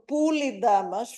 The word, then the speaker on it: Polydamas: During the course of his visit to Olympia, Pausanias was much impressed by the memorial to Polydamas, or Poulidamas, following the Thessalian pronunciation.